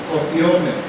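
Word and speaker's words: κοπιῶμεν: Es una palabra griega que se pronuncia copiome.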